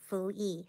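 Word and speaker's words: 伏羲: It's called Nuwa and Fuyi.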